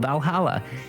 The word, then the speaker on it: VA-11 Hall-A: oh Hala by Miki the name sounds silly and a bit hard to pronounce but there's actually a thing but it's actually called Valhalla it's the the funny numbers and letters are just a code anyway I visited this